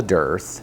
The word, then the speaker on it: dearth: Now the thing is, right now we're in the time of year that's called a dearth. It almost sounds like death, and it's spelled D-E-A-R-T-H.